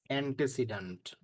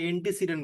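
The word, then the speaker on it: antecedent: Pronoun গুলোকে বলা হয় অ্যান্টেসিডেন্ট। এই শব্দের সাথে পরিচিত? জি স্যার শুনছি। আপনারা অ্যান্টিসিডেন্ট বলেন কিন্তু উচ্চারণটা অ্যান্টেসিডেন্ট।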